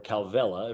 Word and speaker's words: Kauwela: in my heart called Kauwela Resorts, or Calvela, if you're pronouncing it in Hawaiian.